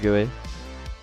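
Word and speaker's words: GUI: This it's a billboard gooey. So when you're playing the game, it follows your camera. The story behind pronouncing gooey gooey.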